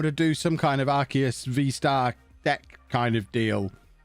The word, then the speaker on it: Arceus: The Arceus, or Arceus, I'm apparently educated, it's supposed to be pronounced.